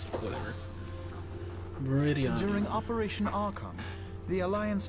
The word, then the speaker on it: Meridianum: Meridianum. So I've been saying it wrong, but it's whatever. Meridianum.